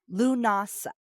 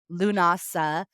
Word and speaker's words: Lughnasadh: it and so I have heard it said lunasa um so that's how I've heard it or llamas is another name for it which I think is a much easier name so llamas lunasa because it's celebrating the god Luke l-u-g-h or